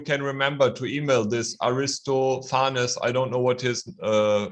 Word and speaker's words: Aristophanes: It's called Aristophanes, okay? That's the correct pronunciation. Aristophanes.